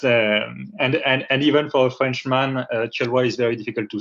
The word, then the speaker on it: Guillaume de Thieulloy: First of all, my name is pronounced this way, Guillaume de Thieulloy, but I understand very well that a lot of people cannot say it.